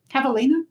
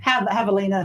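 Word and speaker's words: javelina: it what is it cavalina cavalina Havalina Havalina see it's a j where it's silent with an H I would not know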